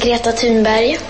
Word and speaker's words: Thunberg: bulletins and so on, that's not how you say her name. This is how you say her name. My name is Greta Thunberg.